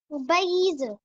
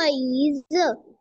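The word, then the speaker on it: 杯子: फातिमा, ये वी नहीं हम इसे पढ़ेंगे, इसे कैसे प्रोनाउंस करेंगे? पी से। पईज। पईज। पेज। पेज। पईज। फर्स्ट ऑन है ना बच्चे, तो इसको हम, इसमें हमारी साउंड में फ्लक्चुएशन नहीं आनी चाहिए। पईज।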